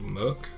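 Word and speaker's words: MUCC: I've been listening to a Japanese band called Muck. It's spelled M-U-C-C, that my girlfriend got me to listen to because she likes a lot of Japanese rock.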